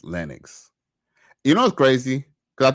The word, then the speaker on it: Lennox: My Mr. O says it's pronounced Lennux.